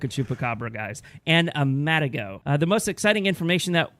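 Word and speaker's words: Matagot: and then what is Matt ago is that is that how you pronounce it Matt ago yeah because I think it's a French animal and the T is usually silent he's a mother good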